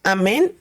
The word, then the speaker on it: amén: Y fíjese, la palabra amén lleva un acento en la E.